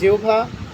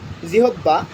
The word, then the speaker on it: জিহ্বা: এখানে আমরা অনেকেই বলি জিহ্বা উচ্চারণ করি জিহ্বা, এখানে জিহ্বা হবে না, উচ্চারণ হবে জিহ্বা, জিহ্বা।